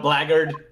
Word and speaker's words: blackguard: What are you insinuating, you vile blackguard?